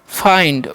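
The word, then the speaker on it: find: एफ आई एनडी है तो इसे फिड नहीं इसे पढ़ेंगे हम फाइंड ओके नेक्स्ट है एम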